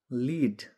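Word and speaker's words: lead: त्यसैगरी अर्को शब्द छ लिड लिड भनेको नेतृत्व गर्नु कसैलाई अघि लागेर बाटो देखाउनु तर यसैलाई फेरी लेड भनेर उच्चारण गर्यो भने यो एउटा धातु जसलाई सिसा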